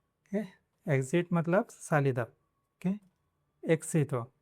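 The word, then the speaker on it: éxito: Between vowels, मतलब अभी ये 21 है, इसके पहला और बाद में वावल्स है, ए और आ है, तब उसको क्स पढ़ना है। फॉर एग्जांपल एक्सामेन, एक्सामेन मतलब एग्ज़ाम, एक्सितो, एक्सितो मतलब एग्जिट नहीं,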